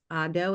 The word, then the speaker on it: Ado: I think her name is pronounced Ado. It's A D O.